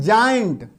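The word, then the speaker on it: giant: example क्या है, जी के बाद देखिए ई आ गया जेम, जी के बाद अगर आई आता है देखिए है ना, तो इसका उच्चारण क्या होता है जाइंट है ना, क्या होता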